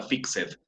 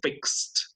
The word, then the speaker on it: fixed: Si yo digo en inglés, I fixed my car, con el ed, recuerden que ed no suena fixed, sino fixed, como con una T al final, ¿no es cierto?